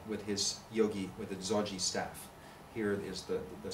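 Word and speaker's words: ဇော်ဂျီ: the sides either called zoji which is the burmese pronunciation of yogi essentially but very specifically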